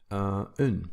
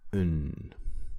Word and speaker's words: een: Now you might think this should be pronounced een, but if you say een, then it's actually number 1. Only when you really want to emphasize this number 1, then you say een. You also put the accent on the e twice. Other than that, it's un. That's the pronunciation you use.